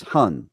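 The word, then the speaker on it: 魂: Okay, so one of the spirits is Hun, right?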